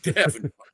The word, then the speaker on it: Davan: It's like Davenport. It's like Davan. Just get rid of the port.